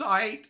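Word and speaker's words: Ayt: I just called her Ait. I think it's spelled A-Y-T. I was like, Ait. Ait. It's Ait.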